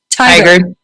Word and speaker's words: Tigard: Tigard.